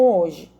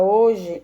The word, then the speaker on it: hoje: A palavra hoje, ela deriva da forma latina hoc dai e, por isso, o H é mantido, embora ele não seja pronunciado.